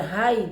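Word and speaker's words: חי: Y la siguiente es K-J-A-I, pronunciación es igual, Jai diría yo.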